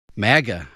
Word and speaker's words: MAGA: grew to historic levels under the republicans the mega republicans the mag have republished you don't want to mispronounce it the mega republicans maga make america great again during those remarks president